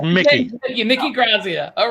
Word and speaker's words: Grassia: You do know my last name is actually with S's, not Z's, right? It's pronounced Grassia.